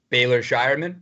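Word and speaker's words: Baylor Scheierman: Is it Baylor Shireman?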